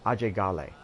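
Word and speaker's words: Ajay Ghale: but let's start with our main character AJ Gale or as he's called in the local pronunciation Oh Jay Galle and that's critical you'll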